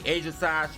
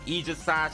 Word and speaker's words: Aegislash: There comes the Aegislash or the Aegislash. I think that's what it's pronounced as. I think it's pronounced as Aegislash. So I'm going to be pronouncing it as Aegislash instead of Aegislash.